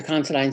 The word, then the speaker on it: Considine: Am I saying that right? Considine? You are. You got it. I know someone with that last name, and that's how he pronounces it.